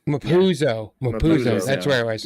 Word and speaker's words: Mapuzo: Mazupo. Or really? I wrote it down in my notes. Where was it? Yeah, I'm spacing out how you say it's like Mapuzo.